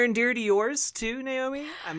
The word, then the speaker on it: Naomi: Yeah, there's the famous Naomi, which I don't know how that happens because it's spelled Naomi. That happens the most, but then there's kind of different pronunciations. Like in Hawaii, it was always pronounced Naomi, which is kind of cool.